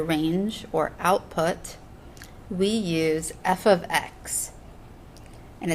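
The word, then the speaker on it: f(x): to represent their range or output we use f of x and it's not the same as f times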